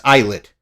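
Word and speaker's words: ILLIT: Another opening for Ill or why do I say Illid? It's eyelet.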